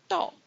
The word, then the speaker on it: 豆: Now this is because bean is pronounced 豆, and it sounds close to 短.